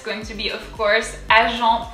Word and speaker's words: Agent: So instead of agent, we have agent. So A is A, like if you're surprised. A, A, Jean, E-N is en, agent, the T is silent, agent.